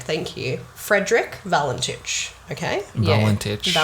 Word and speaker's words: Valentich: Valentich. Yeah. Valentich. Proud of you on your pronunciation with that. I don't know if that's how you pronounce it, but that's how I'm going to say it.